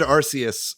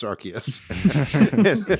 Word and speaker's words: Arceus: say this arceus uh arceus i always said arceus until they were like it's pronounced arceus presentation when in doubt read the katakana first